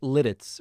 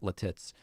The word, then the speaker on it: Lititz: know that for sure and i know it's lititz right is that the right pronunciation yeah yeah that's right yeah but it just there's nothing better than pronouncing it latits uh okay listen i hope that you guys